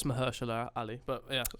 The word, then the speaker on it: Mahershala: I think it's Mahershala Ali, but yeah. Mahershala, thank you. You can do pronunciations.